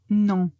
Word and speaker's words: non: L'autre, c'est non. Non. Faites attention quand vous le prononcez de le prononcer nasal.